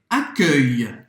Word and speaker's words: accueil: Então, presta atenção, a dificuldade que a gente tem como brasileiro é porque esse som não existe no português, tá?